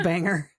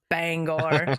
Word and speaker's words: Bangor: He's not everything's a banger. No, no, no. Wait, you mean Bangor? Yes. Shut up. I do actually. That's Sorry, I mispronounced it. Bangor.